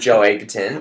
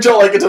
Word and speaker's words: Joel Edgerton: joining with Will Smith and Joe Egerton. I knew you'd say it wrong. I read Joel Edgerton on your notes and I was like, he'd say it's Joel Edgerton.